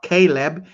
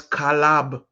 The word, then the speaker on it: Kalab: That was whom we call Caleb, but his name was not Caleb, it was Kalab.